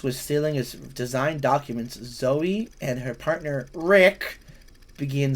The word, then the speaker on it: Zoe: Alexa, how do you pronounce Ze Z O E is pronounced Zoe?